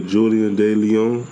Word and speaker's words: Julian De Leon: I got my boy Julian De Leon.